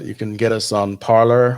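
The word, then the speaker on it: Parler: can get us on parlor or parlay however you want to say that is parlay is French but it's spelled parlor um so you can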